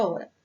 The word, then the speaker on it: hora: Por exemplo, a palavra hora. O H é pronunciado? Não, a gente não ouve o som do H.